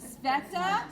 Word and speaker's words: Sveta: It's Sveta. Sveta? They say it's like feta with an S.